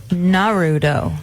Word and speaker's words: Naruto: It's spelled Naruto. Naruto.